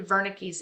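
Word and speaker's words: Wernicke: It is just a very short explanation of Broca's area and Vernick's area. And again, pronounced V because it is German.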